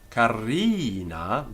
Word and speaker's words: carina: But in carina, the ri in carina is affected, and we have to give it a long I by nature. Carina.